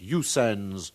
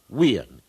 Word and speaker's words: USA: Now we know that Usans is incorrect, and the symbols USA are properly pronounced Weans.